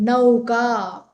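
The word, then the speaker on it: नौका: It is in Sanskrit how you see it is how you pronounce.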